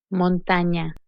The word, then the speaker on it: montaña: Ñ is pronounced ñ, as in canyon. Montaña.